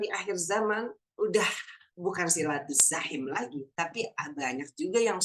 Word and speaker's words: silaturahim: Jadi kira-kira dibacanya apa tuh? Ar-Rajim. Nah, silaturrajim. Ya Allah, na'udzubillahi min dzalik. Kalau ngomongin silaturrajim ini ya, kita selama ini kan masih berkutat di silaturrahim.